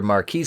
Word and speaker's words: Marquis: found her passed out under marquis pronounced marcus because he's